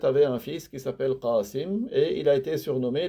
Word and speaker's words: Qasim: Et les Arabes, ils peuvent prononcer le Qa en Ga. S'ils n'arrivent pas à dire Abul Qasim avec le Qa, il peut dire Abul Qasim.